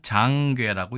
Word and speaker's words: 掌櫃: 이 글자는 우리가 장괴라고 읽습니다.